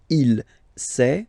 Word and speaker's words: il sait: Il sait, final T not pronounced, elle sait.